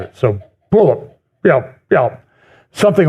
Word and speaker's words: Puyallup: By the way, next Sunday, I will be speaking at Renewed Life Church in a town in the Seattle area, which phonetically is Puyallup, Puyallup.